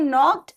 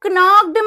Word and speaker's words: knocked: इसको knockeded मत पढ़ देना, जो कि ध्यान रखिएगा जब के और एन एक साथ आते हैं तो वहां पे के साइलेंट होता है हमेशा, जैसे नॉलेज है ना, नॉलेज में हमेशा के साइलेंट होता है, उसी तरह से कहीं पे भी के और एन साथ में आएगा तो के साइलेंट होगा, नोट कर लेना अलग से।